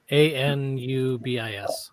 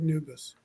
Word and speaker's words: Anubis: on okay hold on just type in you spell it n-u-b-i-s a-n-u-b-i-s oh a n yeah Anubis I was doing the exact same thing okay I thought it was new but I thought she said noobus well maybe now maybe I've got that wrong